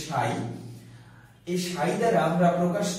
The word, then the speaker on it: psi: আমরা এটিকে ইংলিশে এর বানানটি হচ্ছে PSI, কিন্তু আমরা বাংলায় উচ্চারণ করি এটাকে সাই।